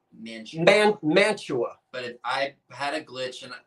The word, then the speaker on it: Mantua: It is pronounced Mantua. But I had a glitch that one day, and I said Mantua.